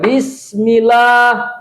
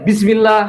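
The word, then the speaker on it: بسم الله: Bisnya kan dibacanya panjang juga kan? Nggak boleh bismillah, nggak boleh. Karena di situ untuk menunjukkan ada alif yang telah dihapus, maka ulama qiraah membacanya bismillah. Itu bacanya.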